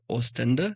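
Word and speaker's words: Oostende: And I might say the name wrong, but the city where you lived was Ostenda? Is that how you pronounce it? nice. almost never in Belgium so I would forget my mother language. So you said it perfectly.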